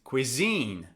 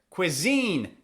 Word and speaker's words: cuisine: Cuisine. Cuisine. Cuisine. Where's the stress? Is it on the first syllable or the second syllable? Cuisine or cuisine? Cuisine. It's on the second syllable.